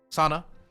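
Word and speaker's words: Sanaa: west of the country i think the capitals sana i never know how to pronounce it correctly let's make sure i'm right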